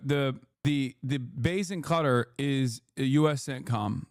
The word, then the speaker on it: Qatar: Okay, you are pronouncing cutter wrong. You keep saying cutter law instead ofQatar.